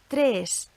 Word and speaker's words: tres: Okay, and on to the letter E, which is always pronounced like the E in bed or fed, again, even when it occurs at the end of a word.